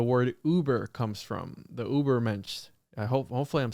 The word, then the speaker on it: Übermensch: Übermensch is how I pronounce it.